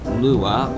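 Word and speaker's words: Lewa: here uh or or Lua or Lea whichever way you want to pronounce it I pronounce it Lea since that's how it was pronounced in the movie bionical Mask of light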